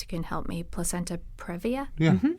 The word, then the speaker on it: previa: Yeah, there's a lot that a woman's doctor can advise her about if she's got, I never pronounce this right, perhaps you can help me, placenta previa? Yeah, previa.